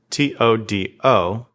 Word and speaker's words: todo: T-O-D-O. Remember the soft T's and D's with your tongue against your teeth instead of the roof of your mouth. Todo.